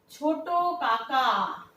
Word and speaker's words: ছোটকা: ছোট কাকা। সমাক্ষর কোনটা কোনটা? একই একই অক্ষর আমরা দেখতে পাচ্ছি। আমরা উচ্চারণের সুবিধার জন্য, তাড়াতাড়ি দ্রুত উচ্চারণের প্রবণতার জন্য কি করছি? ছোট কাকা না বলে বলছি ছোটকা।